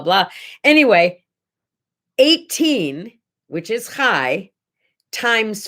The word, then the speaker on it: chai: number blah blah blah anyway 18 which is high times 5 equals 90.